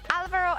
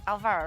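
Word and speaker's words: Álvaro: I heard it, but I believe there is normally an accent on the A, but you don't see it in the in-game nickname, so it's Alvaro and not Alvaro, right?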